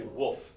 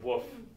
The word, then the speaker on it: wolf: I always say wolf. I always miss the L in it. I say woof, like a dog barking. Woof instead of wolf.